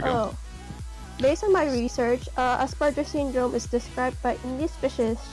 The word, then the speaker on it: Asperger: It's Asperger. I pronounce it as Asperger's. Aspergers. Well, it's actually Asperger syndrome. There's actually no S.